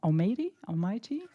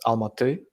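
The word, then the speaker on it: Almaty: Uh uh currently the name is Al Mate. So with an a sound at the end, but uh when I was born the name was a little different.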